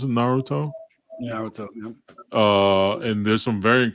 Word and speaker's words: Naruto: Is that how you pronounce it? Naruto? Naruto.